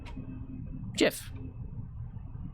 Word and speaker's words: GIF: really weird um no it's jif like gin g j-i-n like the drink gin jiff well we don't write